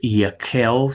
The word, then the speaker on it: Yehiel: I do pronounce it as Yehiel. I often tell a story of a rabbi friend in Chicago with the same name, and he pronounces his Yehiel, so that H has a k sound, and they go to that second vowel versus the first, which is how we get that Yehiel.